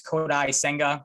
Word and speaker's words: Kodai Senga: know they've been linked to I think it's kodai senga it's how you pronounce his name and I'll get to him